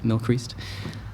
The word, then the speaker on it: Mylchreest: But yes, it's from the Isle of Man, pronounced Mylchreest. And yeah, to be fair